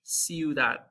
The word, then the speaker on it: ciudad: However, there's a soft C sound in Spanish, kind of like there is in English, like the word city. If you have the word city in Spanish, ciudad. So before an E or